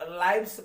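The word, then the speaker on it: lives: अब बच्चों देखो यहाँ लाइव्स पढ़ेंगे, इसको लिव नहीं पढ़ेंगे ना लिव्स पढ़ेंगे।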